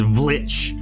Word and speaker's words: Vlich: It's a silent V. The correct pronunciation is Vlich.